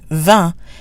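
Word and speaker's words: vingt: me event on me the t is pronounced because it's followed by a vowel the T is also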